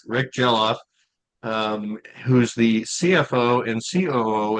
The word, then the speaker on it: Geloff: Did I pronounce that right, Rick? Geloff. Rick Geloff, who's the CFO and COO at Starion Bank in the greater Bismarck area.